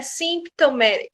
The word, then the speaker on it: symptomatic: O P aqui, ele fica bem sutil. Ele não é pronunciado, né? Então, não é symptomatic, não. É symptomatic. Você quase chega a pronunciar, mas não chega a sair o P.